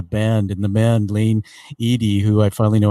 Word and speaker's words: Ihde: screen right now that lane Edy it looks like Lane eyed you really do a